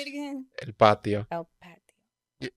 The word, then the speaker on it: El Patio: El Patio.